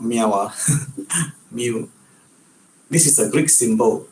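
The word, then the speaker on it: μ: We pronounce it as mu.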